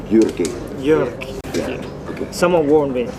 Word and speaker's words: Jyrki: We are here with Jyrki. All pronounce it right, Jyrki. Jyrki.